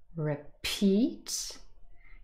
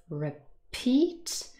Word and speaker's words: repeat: the verb is repeat repeat again i've given you the phonemic transcript and you can see there are two syllables repeat and the second one is stressed and again i've written